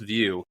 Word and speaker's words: Vieaux: you know that it it's pronounced view right yeah that's how I sift through the telemarketers like you know if they if they pronounce the X I'm not returning the